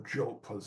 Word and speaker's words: Diop: the same way that Cheikh Anta Diop, or Diop as they pronounce it in France, revolutionized history, in the same